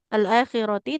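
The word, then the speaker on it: الآخرة: Ketika wakaf atau berhenti jadi ha sukun ketika dilanjut nah kita baca alakhirati tapi tidak boleh ada jeda ya seperti itu.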